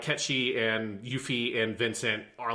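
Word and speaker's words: Cait Sith: But yeah, so I'm going to call the character Ketchi because that's how it's supposed to be said. And it would be like if you called me, because but it's spelled. It's the same kind of Gaelic spelling.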